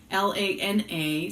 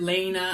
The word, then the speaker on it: Lana: My name is Lana, Lana. Sometimes I get pronounced Lana, but there's only one N. And so, or I've heard Lena.